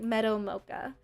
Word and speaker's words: Meadow Mocha: It's like Meadow Mocha. So Mocha like the coffee and meadow just meadow like a going to a flower field.